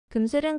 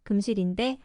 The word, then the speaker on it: 금슬: 금슬을 금실이라고도 합니다. 금슬을 잘못 발음한 것이 금실인데 워낙 많이 사용하다 보니 표준어가 되었습니다. 금슬 좋은 부부도 맞고 금실 좋은 부부라고 해도 틀린 것이 아닙니다. 시중에서는 금실이 오히려 더 많이 쓰이는 편입니다.